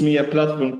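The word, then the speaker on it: Mia-Platform: Did I introduce MIA Platform correctly?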